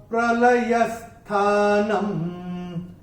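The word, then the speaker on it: प्रलयस्थानं: अनुस्वार जब चरण की समाप्ति पे आएगा तो उसका उच्चारण केवल और केवल म ही होगा। तो ये तीसरा चरण कैसे चैंट करेंगे हम? प्रभवः प्रलयस्थानम, ऐसे करके आएगा।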